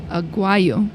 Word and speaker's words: Aguayo: Today we have my friend Daniel Aguayo.